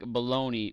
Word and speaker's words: bologna: I know it's pronounced like baloney, but it's spelled like Bologna.